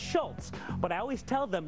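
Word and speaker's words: Schulz: last name correctly alfons people always want to throw a te in there because it's pronounced Schultz but I always tell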